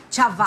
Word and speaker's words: Chavacano: the original Spanish term ang pronunciation ni Chavacano chava hindi chaba Chavacano Chavacano at yyung Chavacano